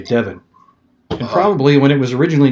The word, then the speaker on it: Devon: as people moved in nobody knew what the correct pronunciation was and somehow it just became divine that's strange to me looking at that word d-e-v-o-n I would say Devin yeah I heard people